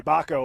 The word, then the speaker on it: Bauco: So we'll see what AJ Bauco can do here. Sorry, Baco, like the taco, as he tells me.